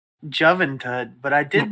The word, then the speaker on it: Juventud: And Skip is pointing out it is pronounced Juventud. Juventud.